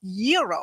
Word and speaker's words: gyro: in line at Papa Gyros I order the gyro Supreme suddenly the lady behind me chimes in it's pronounced Euro then the fellow behind her says it's a gyro I turn my back